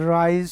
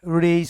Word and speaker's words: raise: তাই বৃদ্ধি পাওয়া যদি বোঝায়, এ রাইজ মানে হলো উঠা, আর এটা হলো বৃদ্ধি পাওয়া, তাহলে RAISE রেইজ হবে, উচ্চারণটা হবে রেইজ।